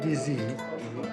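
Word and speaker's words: dizi: How do you pronounce the specialty here, Dizzy? What they serve is called DZ, which actually is the name of the pot.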